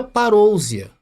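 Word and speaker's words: παρουσία: vida então ali está no original em grego se pronuncia parousia então todas as vezes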